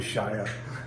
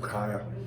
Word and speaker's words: Chaya: And some may pronounce it probably Shia, but my old Hebrew makes me pronounce it Chaya.